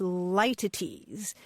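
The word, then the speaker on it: litotes: the word that you're probably thinking about is lities it's pronounced a bunch of different ways but it's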